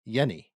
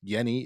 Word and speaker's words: Jenny: Jenny um and but in Dutch because she's Dutch it's pronounced Yenni so growing up and